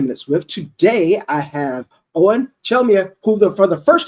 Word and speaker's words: Eoghan Chelmiah: edition of 10 minutes sft today I have Owen chelia who the for the first time I got his last name pronounced right man I listen to about four